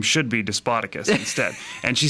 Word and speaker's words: Despotakis: I pronounced that right, didn't I? Close. Close! Yes, I'll give you A for effort. Despotakis.